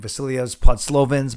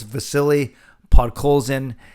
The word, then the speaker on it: Vasily Podkolzin: We know Stan Smil butchered his name, Vasilios Podslovins, but that's okay. It's Vasily Podkolzin, and there's already a lot of hype about him.